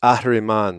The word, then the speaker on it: Ahriman: Thank you, and hope you guys caught the basic core principle of Lucifer, Ahriman, and Christ, I'm going to have you pronounce it the Farsi style. which is Ahriman.